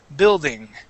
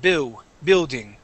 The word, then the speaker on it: building: yep Bill okay yeah we are going to pronounce the L there Bill building building good good now this is a hard one um yeah uhhuh just like that building okay when you read the word you said bu building okay we do want to pronounce that L Bill okay now the